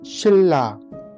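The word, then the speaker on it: 신라: और नंबर 2 जो है वो है शिल्ला, शिल्ला, शिल्ला। अगर आप स्पेलिंग देखते हैं शिल्ला की, तो लिखना तो आपको शिन, शिल्ला है, शिल्ला है।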